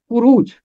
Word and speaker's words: خروج: بھی پیش ہے، رے کے اوپر بھی پیش ہے۔ اسے پڑھا جائے گا خروج، خروج۔ اس کا مادہ ہے